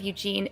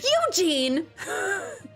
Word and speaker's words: Eugene: Eugene oh yes Eugene Eugene like the like heavy emphasis on the first part of it so I can never